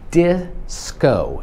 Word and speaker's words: disco: chcę żebyś zauważył że nie tylko inaczej się wymawia i zamiast disco po polsku Disco ale też inaczej się wymawia o bo ogólnie po angielsku samogłoski mają inny dźwięk niż po polsku to tutaj się mówi disco d zamiast di this